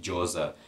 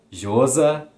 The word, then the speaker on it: Llosa: Não sei exatamente, Llosa. Eu sei que tem 4 pronúncias para os 2 L's em espanhol, né? Llosa, Josa, Josa e Losa, acho que é assim.